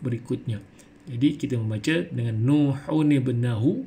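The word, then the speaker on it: نوح ابنه: Jadi dibaca dengan Nuhun ibnahu, yang mana nun yang mati tadi kita bunyikan baris bawah untuk menyesuaikan bacaan kepada huruf berikutnya. Jadi kita membaca dengan Nuhun ibnahu, bukan dibaca dengan Nuhubnahu.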